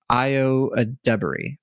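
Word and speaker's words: Ayo Edebiri: her name correctly um I I see a pronunciation right here IO IO ad Dey IO ad Dey the good thing is that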